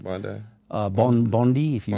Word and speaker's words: Bondi: beach yeah that's how you say it right Bondi uh Bond Bondi if you wish you go